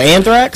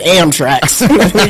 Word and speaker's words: Anthrax: up special he like you learn to say it right is it's Anthrax not that amra got that amra that am tracks Ah